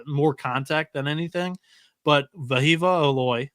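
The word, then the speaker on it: Wehiwa: But Vahiva Aloy, I am told that it's pronounced with a V. His name starts with a W, but he comes in from Sacramento State.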